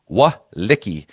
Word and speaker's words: Walecki: Just to clarify, it's Jason Walecki. I've been saying it wrong. And apparently, Matt Murphy has been giving me some heat on it about saying his name wrong. So it's Walecki.